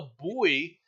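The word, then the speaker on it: buoy: it will remove a boy set up in China it's pronounced boy okay whatever um in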